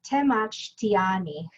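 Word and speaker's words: temachtiani: and an educator so you pronounce that te mach tiani i have four pets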